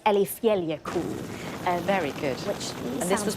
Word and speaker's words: Eyjafjallajökull: I'm so sorry to our Icelandic viewers if I get it wrong, but I think it's Eyjafjallajökull.